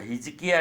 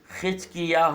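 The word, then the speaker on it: חזקיה: खज कियाह उत्पन्न हुआ हिज किया नहीं खिच कियाह उत्पन्न हुआ ऐसा उच्चारण करना चाहिए 10 पद में और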